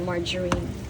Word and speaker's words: margarine: Margerine. Margerine. Ang basa doun ah. Hindi yun hindi yun hard G soft G margerine. That's the right pronunciation kung mula bata ako turo margarine.